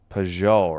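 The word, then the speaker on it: Pageau: Peugeot, right?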